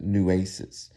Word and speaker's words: Nueces: Now, I mispronounced the name of the street, Nueces. That's how they pronounce it, Nueces. Now, it's Nueces, Nueces, and it's a street.